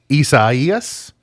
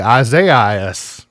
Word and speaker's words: Isaias: The Storm, Isaias. We all want to say Isaiah.